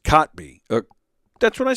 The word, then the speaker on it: Kotb: And it's pronounced Kotb.